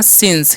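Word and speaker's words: since: आई एन सीई तो इसे हम पढ़ते हैं सिंस क्या पढ़ते हैं सिंस जब भी सी साथ में गा उसका स कर देना है ठीक है सिंस मतलब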